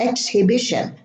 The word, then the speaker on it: exhibition: It's not exhibit or exhibition. Time, exhaust, exhibit, exhibition. Vehicle. The H is silent, and we pronounce the I as if there were two I's or a Y and an I.